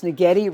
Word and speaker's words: Netti: St Bart's handwoven totes that's netti rhymes with spaghetti now yellow is my